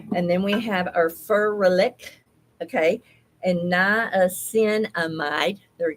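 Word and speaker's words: ferulic: So Furlic, Furlic, that's how you say it.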